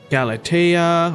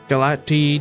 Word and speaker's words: Galatea: So we got Galatea, or Galati, depending on how you pronounce it.